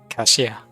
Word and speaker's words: 凯西亚: 凯西亚， Kaxia.